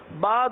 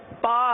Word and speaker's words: ب: ادا نہ کیا جائے۔ جیسے کہ ہم پہلے عرض کر چکے ہیں کہ با دونوں ہونٹوں کے تر حصے سے ادا ہوتا ہے۔ اگر با کو خشک حصے سے ادا کیا تو کیا ادا ہوگا؟ با کے بجائے پا ادا ہوگا۔ اگر آپ اس کا